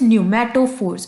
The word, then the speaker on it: pneumatophores: Guys the first term is न्यूमेटोफोर्स। इसको न्यूमेटोफोर्स नहीं बोलेंगे, पी is silent and this is न्यूमेटोफोर्स। Then is द न्यूमेटोथोर्स, then is the vivipary and last is the xerophytic conditions.